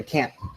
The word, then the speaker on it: can't: Si lo pronuncia bien, like enunciando la T, entonces you shouldn't have that issue.